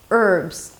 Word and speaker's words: herbs: Just memorize those words that don't begin with an H, although there is an H in the spelling, and you'll be fine.